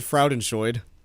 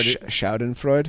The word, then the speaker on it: Schadenfreude: You said Fraudenscheid. How do you say it? Well, first, the first letter is the S. The F part. Schadenfreude? Yes. Fraudenscheid versus Schadenfreude. No, this Fraudenscheid is something else.